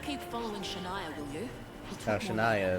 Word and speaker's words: Shania: following shania will you shania is her name okay that's how you pronounce it that's a weird way to pronounce that uh much less spell